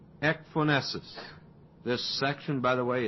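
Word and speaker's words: ecphonesis: Ephonesus and it's spelled E C P H O N E S I S. Ephonesus.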